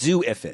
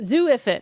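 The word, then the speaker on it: Xu-Ifit: It's just Zuifit. Zuifit. And it's like XU. Unfortunately.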